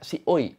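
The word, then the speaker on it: ซีอุย: Ya udah langsungnya kita mulai pembahasan tentang Si Kuei, atau kalau orang Thailand tuh bacanya Si Oi.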